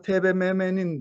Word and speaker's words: TBMM: büyük harflerle yapılan kısaltmalarda büyük harflerle yapılan kısaltmalarda her harfi Ben harf şeklinde telaffuz ediyorum ABD'ye diyorum ya da burada TBMM'nin diyorum ya da burada